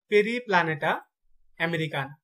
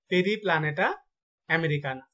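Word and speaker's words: Periplaneta americana: আরশোলার বৈজ্ঞানিক নাম হচ্ছে পেরিপ্লানেটা আমেরিকানা, পেরিপ্লানেটা আমেরিকানা।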